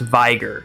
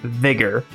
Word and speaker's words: Vigor: When I streamed this, I genuinely thought that this word was pronounced Viger. I don't know why, but I always thought that was the pronunciation. It wasn't until we looked it up on stream that I realized it's actually pronounced Vigor.